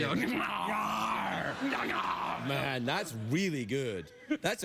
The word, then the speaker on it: Gnarr: Gnarr.